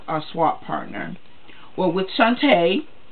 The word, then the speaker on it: Shanta: Well, with Shanta, that's her name, that's how you pronounce it.